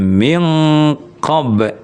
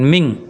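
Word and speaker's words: مِن قَبلِكُم: Makanya min dengan qo itu bacanya minqob. Nah, bukan ming. Bukan ming ya, tapi ming ya. walladzina min qablikum la'allakum tattaquun. Nah, ming bukan mingqo bukan ming dia arahnya ke qaf.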